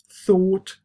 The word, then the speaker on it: thought: So though obviously rhymes with go, thought will rhyme with port in British English or sort, and then through will